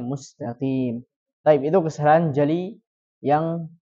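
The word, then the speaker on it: مستقيم: Kemudian ya, sering terjadi juga mengganti huruf mim dengan huruf nun. Mustaqin. Ya, mustaqin. Yang harusnya dibacanya mustaqim.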